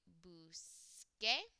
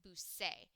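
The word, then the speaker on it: busqué: QUE, because if I didn't spell change, if I had a C there, you pronounce that busse. And we can't have that. We need the k sound, so we need busque.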